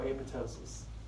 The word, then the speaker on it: apoptosis: They undergo apoptosis. Apoptosis. I believe the second P is silent.